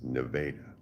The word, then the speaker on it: Nevada: It's spelled Nevada, but it's Nevada.